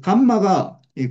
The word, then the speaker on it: 감마: 요게 가장 핵심이고 그래서 감마가이 감마라고 이거이 이름을 감마라이 그리스 문자인데 감마라고 읽고 감마 감마 감마로는데 이거